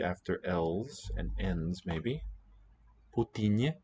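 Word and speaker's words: Путин: Putinye, the name of the current premier of Russia, is Putinye. So in some sense, it's a three-syllable name.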